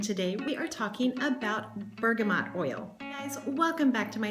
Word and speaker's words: bergamot: about bergamot oil now for the longest time I have been pronouncing it Bergamo and I've been keeping this heap silent but I looked it up several places in all of the places they that you pronounce it bergamot ber G am T so I've been pronouncing